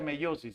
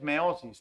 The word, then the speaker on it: meiosis: No, se pronuncia meiosis, hija. No es meosis, no, meiosis. Ya de los cromosomas en la meiosis.